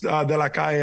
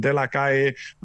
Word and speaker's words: De La Calle: I'm glad you pronounced it the correct way, because so many people are going to say, yeah, man, you've been watching that show De La Calle, because we're so used to Cali through Pitbull.